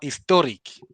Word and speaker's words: historic: This is this is critical. This is where people screw up the English language. If you don't pay attention to the syllable stress partic is it wouldn't make sense to any native speaker.